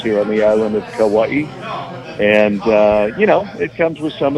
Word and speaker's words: Kauai: Is that Kauai?